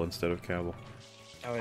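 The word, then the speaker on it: Cavill: that his last name caval is pronounced like the word travel oh sometimes I I that up and I say cavil instead of caval is how dare you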